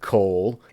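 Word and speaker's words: קוֹל: to transliterate it coal how to pronounce it cole and then if there's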